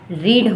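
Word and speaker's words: read: की first form आपकी रीड होती है सेकंड फॉर्म भी स्पेलिंग वही होती है बस इसे रेड पढ़ा जाता है और थर्ड को भी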